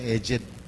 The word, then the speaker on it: edged: Ang pronunciation dyan, edged.